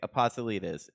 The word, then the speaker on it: Apostolides: Nick Apostolides.